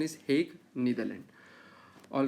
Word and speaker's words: Hague: All right, pronunciation is Hague, Netherlands.